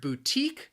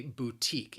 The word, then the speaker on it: boutique: it is a boutique it has two syllables the stress again is on that second syllable and of course with this one i think you can see that the spelling is not really in line with the pronunciation boutique that second syllable that that t i q u it's